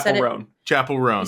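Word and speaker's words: Chappell Roan: Chapel Roan. You said it exactly We right. all Is that just how you say it? Chapel. Chapel Roan.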